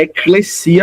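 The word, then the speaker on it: ἐκκλησία: Aí a pronúncia no grego é eclesia mesmo. E aí se a gente fosse transliterar ficaria eclesia por causa da fonética do português.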